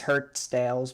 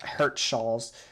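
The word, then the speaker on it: Hirtshals: weren't hurt shawls now i i used to call this place hurt snails because i just could not pronounce it but it is hurt so hurt shawls now time to execute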